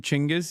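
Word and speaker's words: Chinggis: Uh just learned he you pronounce his name Chingis.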